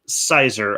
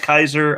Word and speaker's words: cyser: Specifically, if you mix it with cider, it is called a Sizer. I think I've heard it pronounced. Some people said Kaiser. I've heard it both ways.